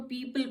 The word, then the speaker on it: people: तो ओ यहाँ पे कैसे साइलेंट हो गया? क्योंकि ये EO का कॉम्बिनेशन है, यहाँ पे PEO है, तो EO है जब इसके कॉम्बिनेशन में आप O को साइलेंट कर देते हैं, पीपल।